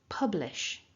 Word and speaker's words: publish: So the second syllable then, we've got the l, which is at the front, l, a short I, and then a sh. So putting that together, lish, lish. Make sure that you're saying